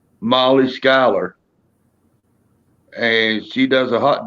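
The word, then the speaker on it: Schuyler: you go not yeah it says jeweler but she pronounces it skyler yeah ah let's see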